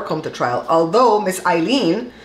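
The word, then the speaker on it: Aileen: trial although Miss eileene I don't know why people keep calling her alien my mom had an aunt my grand aunt she lived to be 98 years old and it was spelled the same way a i l e e n and her name was Eileen so miss Eileen Cannon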